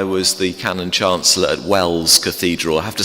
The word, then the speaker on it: Wells: the Canon Chancellor at Welles Cathedral I have to spell it cuz often people think I've said Wales but it's Wells w l LS in Somerset uh on